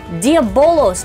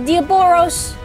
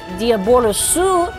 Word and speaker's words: Diabolos: So Diabolosu is how you pronounce it in Japanese, but Diabolos is actually what the name is.